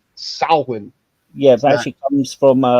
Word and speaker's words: Samhain: It's actually pronounced Samhain.